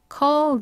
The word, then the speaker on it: call: prince입니다 거기다가 연결돼서 자 그 다음에 콜 아니고요 입을 크게 벌리는 어로 발음하셔서 컬이 되고 d와 th 비슷한 계열이라서 하나 빼고 Call the 하고 바로 이쪽으로